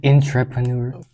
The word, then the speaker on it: entrepreneur: Entrepreneur. Thank you. God, I I I knew it. So it's in the pronunciation it's entrepre.